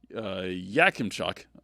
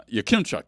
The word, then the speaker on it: Yakimchuk: And Florian ended up ragdolling Carter uh Yakimchuk. Uh Yakimchuk, sorry. Uh mispronounced his name.